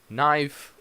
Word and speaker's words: knife: a knight so knife you do not pronounce the K knife another silent letter answer